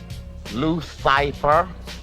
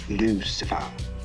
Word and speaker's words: Lucifer: who are you man my card loose piper a small mistake on the part of the printer actually it's pronounced lucifer he wears many faces